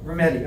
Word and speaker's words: Rometty: Rometty, okay.